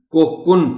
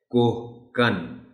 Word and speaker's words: کوہکن: ان کو بتائیے کہ اسے بہت سے لوگ غلطی سے انجانے میں کوہکن پڑھ جاتے ہیں۔ لفظ صحیح ہے کوہکن، اس سے کوہکنی بھی